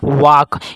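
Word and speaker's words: walk: लेकिन ये वाल्क देखिए ये वाल्क जो लिखा है उसको अपन पढ़ते क्या है? उसको पढ़ते हैं अपन वाक। यानी कि एल जो है इसमें क्या हो जाता है सर?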